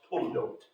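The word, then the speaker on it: toledot: in the Book of Genesis the word is pronounced toote uh I've got a note about that in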